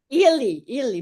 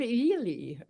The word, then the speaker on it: Ely: I think it is e ely bishop ely as if it's e l e e.